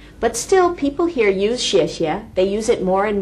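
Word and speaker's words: 谢谢: It's she, and then after the she sound, there's an 谢, 谢, 谢, 谢. And you may catch the tones there. Do you hear them? It's 谢, like a bomb dropping.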